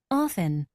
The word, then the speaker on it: often: Often. After. Okay, so we can see that is silent in this word listen and often. However, it is not silent in this word fast and after.